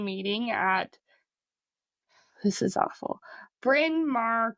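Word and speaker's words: Bryn Mawr: Bin Mar College. That doesn't sound awful, but it's spelled B R Y N M A Wr.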